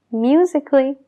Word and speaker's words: musical: Lo mismo con musical. Musical. Musically.